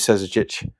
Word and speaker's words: Susic: I did actually Excuse me, I did actually pronounce the name right correctly. It is Susic.